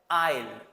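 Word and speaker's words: aisle: এই ভোকাবুলারি গুলো শিখবো এবং এর প্রপার উচ্চারণগুলো শিখব। প্রথম যে শব্দটা সেটা হচ্ছে আইল।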